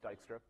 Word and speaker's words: Dijkstra: algorithm called Dijkstra's algorithm I know it has sort of a weird spelling it's pronounced Dijkstra and so what this